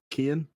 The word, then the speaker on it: Keoghan: Yeah, Barry Keoghan. Keoghan.